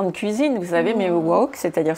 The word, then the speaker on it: woke: Alors l'étymologie c'est difficile, c'est en fait woke, qui ne se prononce pas woke comme un instrument de cuisine, vous savez, mais woke, c'est-à-dire c'est une diphtongue, il y a deux sons.